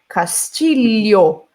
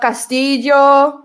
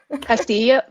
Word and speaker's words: Castillo: It's another name that is difficult to pronounce if you're not Portuguese or Spanish speaker. Castillo. Leo. It's this L sound. Not Castillo. No, not Castillo. Castillo. There you go.